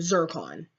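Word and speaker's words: Zarkon: alts Han did what became destroyed by um zircon I finally learned how to say his name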